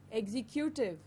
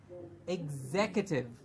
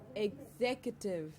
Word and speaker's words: executive: in the previous session how M ent is pronounced and we said month so it's government perfect excellent the next word is executed no no no now the the executive might